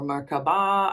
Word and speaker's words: Merkaba: Some people know this as lighting up your Merkaba or Merkaba. I hear it pronounced that way as well.